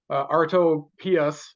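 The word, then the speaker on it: Artopoeus: really starting to get things rolling uh Chase arto pus uh is how you pronounce his name you have to say it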